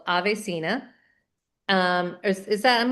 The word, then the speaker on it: AveSeena: Ibrew is the founder of a beautiful skincare brand called Avesena. Um, is is that am I pronouncing it correct? Oh, yeah, that is it. Avesina.